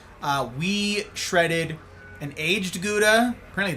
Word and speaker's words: Gouda: Uh we shredded an aged Gouda. Apparently it's gauda, by the way, cuz it comes from Germany and they pronounce it gauda.